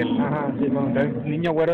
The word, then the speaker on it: Niño Güero: Entonces, Niño Güero es algo como que se pronuncia con la ñ, con el diéresis, sí, y sí, todo, como muy...